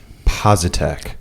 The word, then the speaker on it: Poczat: Posite. Posite. That's the American pronunciation of it. So, sometimes people from Poland will tell me how to say my last name. So